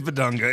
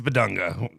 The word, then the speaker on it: Bidunga: I think it is Bedunga. It's just it's it's yes, it's Bedunga. I felt like I felt like it's a BBN joke.